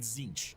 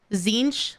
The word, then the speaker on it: Tzeentch: Is it just pronounced Tzeentch but spelled T-Z Tzeentch?